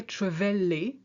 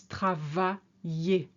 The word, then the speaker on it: travailler: You see, you don't hear travailler, it's travailler.